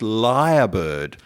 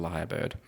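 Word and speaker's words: lyrebird: i was really young because it's spelt l-y-r-e isn't at the liar bird right so yes it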